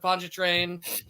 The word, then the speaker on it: Pontchartrain: I'm going to be at the Pirates of Pontchartrain.